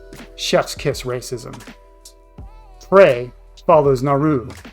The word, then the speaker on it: Naru: Prey follows Naru, a Comanche rhymes with raw, who is repeatedly told she's better than everyone else in her community at everything except hunting.